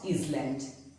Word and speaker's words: island: It is not island, but it is island.